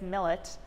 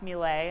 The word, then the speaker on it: Millet: The artist is Francis Davis Millet, not pronounced Millet as I originally thought, who went by Frank, an American painter.